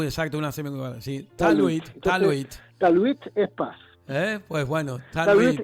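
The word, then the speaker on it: talwit: Teluit. Teluit. T-A-L-W-I-T. Teluit. T-A-L-W-I-T. Taluit. Tú sabes que la W, en inglés, la W es U. Una U, exacto, una semicolon. Sí. Taluit. Taluit es paz.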